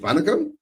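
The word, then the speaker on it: வணக்கம்: Is it Vanakam?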